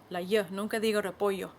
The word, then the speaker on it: repollo: It's a word I learned in Argentina, so I'll always pronounce it with the "sh" sound instead of the "y" sound. I never say "repoYo" .